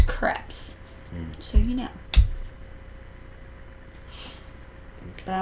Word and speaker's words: crepes: how they say it it rhymes with like step so it's crepes so you know but